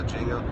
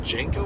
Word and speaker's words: Django: Is it Django or Django? D is silent.